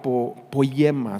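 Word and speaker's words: ποίημα: hechura en el griego es la palabra poyema si se escribe con y poyema de ahí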